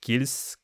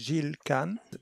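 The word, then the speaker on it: Gilles: website that you started your research working with gilan sorry if I butchered his name French is the French pronunciation is zilan Shield KH yeah so tell tell us a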